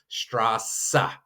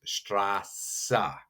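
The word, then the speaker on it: Straße: Straa, it's just kind of that extra sassa.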